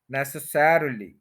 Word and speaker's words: necessarily: ये है नेस अ, श्वा साउंड है अ, नेस, और फिर सैर के ऊपर स्ट्रेस है, necessarily, necessarily, necessarily, necessarily, necessarily